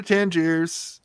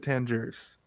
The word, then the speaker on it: Tangier: It's Tangier. Why do they always pronounce it Tangiers? What's the deal? I think Americans pronounce it Tangiers. Could I think be. there is an S on the end, right? Like, or no? No, it's Tangier.